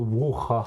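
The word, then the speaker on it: Brujah: Les aficionados diraient plutôt bruja. Bruja. Ouais, bruja. côté espagnol, le J devient.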